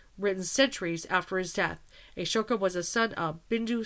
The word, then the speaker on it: Ashoka: Asia himself and I like I said it's Ashoka my apologies I mispronounced but I know who he is at